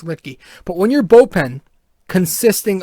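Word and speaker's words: Luetge: And when your bullpen consists of Lucas Litke, finally said it right, by the way. I finally got the name right. I heard it today, and I was, okay, it's Litke.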